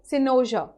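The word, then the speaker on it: cynosure: आप इसको क्या प्रोनाउंसिएट करेंगे? सिनोजर।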